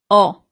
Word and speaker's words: ho: So you don't really pronounce the H at the beginning.